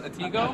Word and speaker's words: Atego: Atego? Atego.